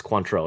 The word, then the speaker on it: Cointreau: It's Cointreau. It's French. AU.